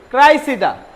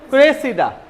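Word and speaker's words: Cressida: Shakespeare লেখেন এটা হচ্ছে টোয়েল হাসান ক্রাইসিডা এটার উচ্চারণ কি ক্রাইসিডা আর এটার উচ্চারণ কি নিচে ক্রেসিডা এটা একটা নাটক এটা আবার কার লেখে আমাদের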